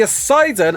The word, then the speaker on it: Ossidon: But the Ossidon, and I like the way that's pronounced, sounds a bit like Poseidon, right, is a force of